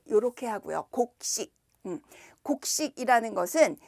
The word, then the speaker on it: 곡식: 곡식, 발음은 이렇게 하고요. 곡식.